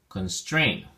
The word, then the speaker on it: constrain: look at your flashcard constrain as two syllables and the imposition of stress is on the second syllable strain so we say constraint constrain and we have two